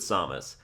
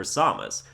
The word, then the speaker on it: Samus: melee announcer called her samus but the ultimate announcer calls her Samus so Who am I supposed to believe I just say samus because it's closer to how it would be pronounced in Japanese and that's what I